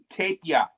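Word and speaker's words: Tapier: Say the word tape like sticky tape. Tape. And then ya. Tape ya.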